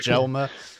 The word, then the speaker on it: Jelmer: Mjolnir, like Mjolnir, it's Jelmer.